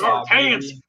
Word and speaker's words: Arkansas: It's pronounced Arkansas.